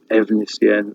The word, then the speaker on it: Efnisien: Efnisien, written with an F, but single F in Welsh is a V. Okay, double F is an F.